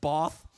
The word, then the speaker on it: Bath: There was a woman sitting in the front, went, actually, it's pronounced Bath.